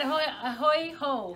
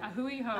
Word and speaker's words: A Hui Hou: It's so hard to pronounce. Yes, it is, but I get it. A Hui Hou. A Hui Hou.